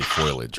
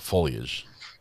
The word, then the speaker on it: foliage: You guys heard her say foilage, right? Not foliage, not foliage, but foilage. Love it when I'm vindicated in pronunciation.